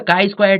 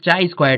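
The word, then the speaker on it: chi-square: test now coming to the kai Square test people used to pronounce this chai square test also this kind of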